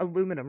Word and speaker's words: aluminum: Let's talk about aluminum real quick. Um, isn't it crazy that we say aluminum and the British say aluminium? Actually, the whole rest of the world aluminium says aluminium, right?